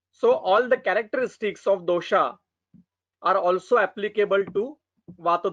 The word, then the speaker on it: dosha: We have to pronounce it as our Sanskrit pattern, not the according to European style.